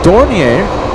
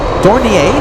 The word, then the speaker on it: Dornier: Air Force Dornier. Dornier? Is that how you say it? Dornier? Dornier?